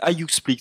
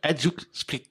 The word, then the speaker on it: Hajduk Split: Alors, ouais, Hajduk Split. Et je crois qu'ils ne le prononcent pas comme ça, ils disent Hajduk Split, un truc comme ça.